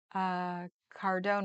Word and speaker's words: Cardone: Cardone rhymes with zone.